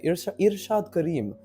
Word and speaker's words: Irshad Karim: For example, Irshad Karim, or should I say Irshad Karim, because that's the right way to pronounce it. You don't roll your R's for this.